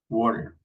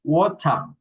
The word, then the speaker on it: water: we say water, water, water, okay? This T is like an R, water, water. Casi que la pronunciamos como eso, es como una R, water, in American English. In British English, we say water, water, completely different.